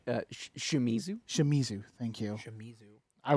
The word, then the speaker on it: Shimizu: Can never pronounce it. Shimizu.